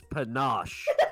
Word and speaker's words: panache: pancakes. Should've just went with it. I should've just You went with you it. guys both said it wrong. It's panache.